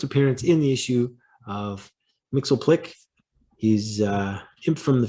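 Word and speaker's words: Mxyzptlk: the antics of mr mixel plick right i'm going with that pronunciation because that's what i found online mixel click everyone's favorite little imp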